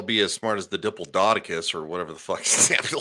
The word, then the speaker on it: Diplodocus: It's not that hard. It sounded it out. That's how it looks. That's phonetically. Really, with the sound it out. That's where you're going with that. There's a. Never mind. Yeah. There's a die and there's a plod.